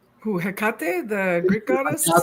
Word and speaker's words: Hekate: He Hea, did I say it right? Who? Hekate, the Greek goddess.